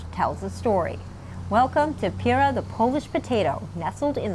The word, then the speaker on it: Pyra: We've been saying Pyra, the Polish potato, but that's not correct. So the right way is Pyra, but of course we don't expect everyone to know that.